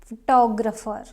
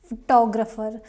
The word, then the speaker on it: photographer: same family that is photographer photographer not photographer not no confusion it's photographer I want to hire a great photographer for my birthday party not photographer photographer second syllable is stressed now next word is